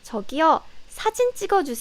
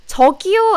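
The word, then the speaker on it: 저기요: quite this good one tokyo and takiyah be careful tokyo and taki yeah so it sounds very similar right tokiyu takiya but it means completely different tokyo means excuse me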